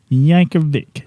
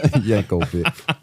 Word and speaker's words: Yankovic: how do you pronounce his last name Yankovic Yankovic yeah can you spell it I can yeah go ahead go ahead